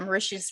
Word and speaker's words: Mauritius: east african island of mauritius which i already have a gaston i read an article or was it in the movie that mauritius rhymes with delicious and i was like